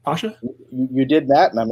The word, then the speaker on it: Kamran Pasha: question him about so everyone say hello to Cameron Pasha did I pronounce that right Pasha you did that and I'm excited to be